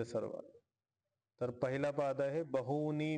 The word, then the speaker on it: बहूनि: तर पहिला पाद आहे बहुनी मे व्यतीतानी ठीक आहे इथं बहुनी मध्ये दीर्घ उकार आहे मोठा उकार आहे तर त्याला तसंच बहुनी मेतानी दीर्घ इकार मोठा इकार आहे तर मोठा उच्चारण करायचं बहुनी व्यतीतानी जन्मानी तव